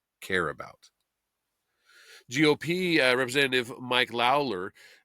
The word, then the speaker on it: Lawler: GOP representative Mike Lawler um or Lawler I guess is how you pronounce that of New York said